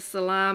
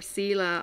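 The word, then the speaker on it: Selah: pause another term is the salah moment or sila i think it might be the pronunciation s-e-l-a-h it's in the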